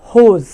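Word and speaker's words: whose: তারপর হচ্ছে WHOAC, হোজ, হোজ।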